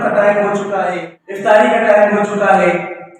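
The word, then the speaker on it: اِفطاری: لو، افطاری بنا لو۔ صحیح معنوں میں جو درست تلفظ ہے اس کا افطاری نہیں ہے، افطاری ہے، الف کے نیچے زیر ہے۔ شکر کہتے ہیں لوگ،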